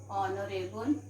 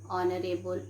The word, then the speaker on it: honorable: h here is silent h here is silent okay like what to say children and honor our and honorable what do we pronounce